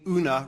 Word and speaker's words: Oona: women in parliament whose first name oona rhymes with a type of fish what a preposterous question